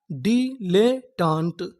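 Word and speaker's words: dilettante: अगर आपको किसी भी मीनिंग के आखिरी में इ लिखा मिले तो हम लोग इ का उच्चारण नहीं करते।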